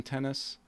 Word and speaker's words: Tennis: my name is tennis pronounced just like the game tennis and i own and